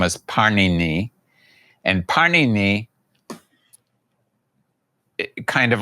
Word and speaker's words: Pāṇini: known his name is Pāṇini. And Pāṇini kind of like the I mean his name is very much like the Italian bread, Pāṇini.